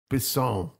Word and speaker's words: Bisson: Bisson.